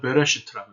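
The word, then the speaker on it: בְּרֵאשִׁית: 태초에라는 단어는 히브리 말로 베레시트라고 읽습니다.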